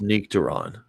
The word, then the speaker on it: Nectaron: It's pronounced Nectaron.